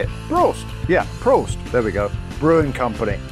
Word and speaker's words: Prost: company how do you say it broast yeah prost there we go brewing company we have four